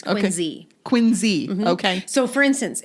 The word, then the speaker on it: Quincy: to say something now we don't say Quincy in Boston oh in Massachusetts it's quiny quiny okay so for